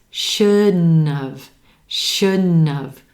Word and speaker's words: shouldn't have: Sounds like a 3-syllable word. Emphasis on that first syllable. Should. Tongue tip comes up behind the top teeth for the D. It stays there as the air moves into the nose for the N.